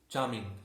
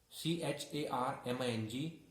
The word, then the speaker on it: charming: Next one is charming. Here R is silent. CHARMING.